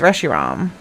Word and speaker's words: Reshiram: I always say his name wrong, but it's Reshiram.